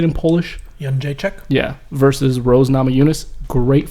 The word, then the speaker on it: Jędrzejczyk: Jędrzejczyk.